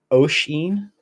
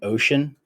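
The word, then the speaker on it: Oisin: get it right phonetically it is o-i-s-i-n and it's like ocean so it sounds like it sounds like I'm saying ocean uh but it's not quite so probably people call me ocean I would imagine that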